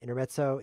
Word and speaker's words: intermezzo: Intermezzo is Italian. It's pronounced like this, intermezzo.